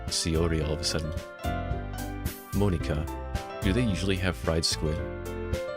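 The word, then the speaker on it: Monika: write in your name Mona Monica a it's not how you say my name at all yeah it's Monica also that joke makes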